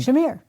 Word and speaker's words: Shamir: And Shamir. we which is not the kind of schmear you put on a bagel. No, it's shamir. It's two, S-H-A. two vowels or two syllables.